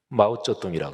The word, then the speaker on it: 마오쩌둥: 중국의 모택동, 마오쩌둥이라고 그러죠. 중국어 발음으로.